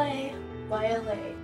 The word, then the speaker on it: K'Ayla: It's spelled capital K apostrophe capital A YLA. And technically you say Ayla, that's technically how you say it, but Kayla's fine because it confuses the crap out of everyone. So yeah, Kayla it is.